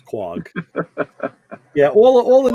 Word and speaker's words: Quogue: well you know like they gotta print like say quag it's like quogue like no it's quag yeah all the names